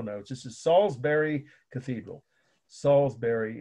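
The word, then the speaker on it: Salisbury: this is Salsbury Cathedral salsbery is just like the steak right it's spelled the same a city in England s a l i s b u r y Salsbury Cathedral of course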